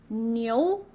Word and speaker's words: 牛: So IU in Chinese is pronounced as yo. Okay, just memorize it. Yo. So together it's niu.